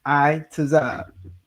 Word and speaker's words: ITAZAB: So, for instance, my name is ITAZAB. On the chart, you see the I, the tazah. All right, not the ta and then the za.